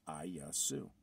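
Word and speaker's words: Ἰησοῦς: And it's pronounced I-Yasu.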